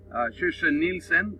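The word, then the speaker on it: Kirstjen Nielsen: Now, Department of Homeland Security Secretary Kirsten Nielsen, that's the correct pronunciation in Swedish, said they received intelligence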